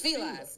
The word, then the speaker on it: Fila: I'm going to let you hear how it's actually pronounced. Hold on. It's Fila. It's Fila. See how the woman said it? How did you find that? I'm like, see, that black woman said Fila.